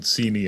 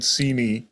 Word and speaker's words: Seney: Yeah, how do you spell that word that you're that where you? Seney?